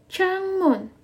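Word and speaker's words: 창문: kalender talok Oke kalender tal Yok Oke kalender bacanya talok kemudian kalau jendela changmun Chang Moon oke bendela eh jendela bacanya changmun Oke kalau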